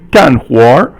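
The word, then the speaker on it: 干活: So if you 干活, so fourth tone is 干, and 干 is fourth tone, and 活 is second tone.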